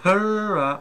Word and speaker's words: Hera: Alors ensuite, on a le Hera, le Hera en anglais, c'est chacun prononce chacun. Et nous, en bon français, c'est le Hera, donc voilà, le Hera.